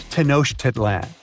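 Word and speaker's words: Tenochtitlan: It's Tanosh Tedlan. And Mayan cities are hard to pronounce too.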